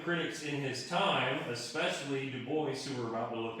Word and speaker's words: Du Bois: begin pontificating on w.e.b dubois because isn't it a french name and shouldn't that be how it's pronounced well that's not how he pronounced him that's not how anybody